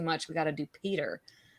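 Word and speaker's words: Petyr: He pronounces Peter Baelish Petter. Yeah. Like Petter. Petter Baelish. I'm like, what is that? That's funny. Incorrect. That's like we wrong. know this is not correct.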